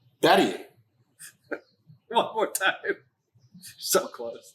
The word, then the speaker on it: Bhatia: Bahia? Is that how you say it? It's Bahia. Bahadia? It's Batia.